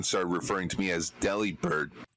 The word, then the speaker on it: Delibird: No, but it's like a few years ago when my mind was blown finding out that Delibird is actually supposed to be pronounced Delibird.